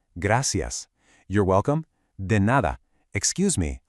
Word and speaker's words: Gracias: Gracias. Notice that soft C sound. Gracias.